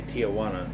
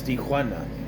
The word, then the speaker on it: Tijuana: So this dude Taylor says, hey, I know a place in Tijuana. They say it wrong. They say Tijuana. It's Tijuana.